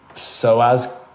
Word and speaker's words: psoas: I'm going to butcher the pronunciation of this, but it's psoas muscle, tight psoas Yeah.